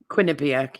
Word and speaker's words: Quinnipiac: I never get how do I pronounce this? Quinnipiac, yeah.